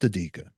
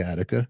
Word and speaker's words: Adika: Like Attica, but just ADIKA. That's interesting. Yeah. But you could say Attica.